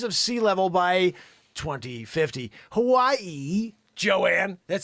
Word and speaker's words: Hawaii: Hawaii, Joanne, that's how you say it.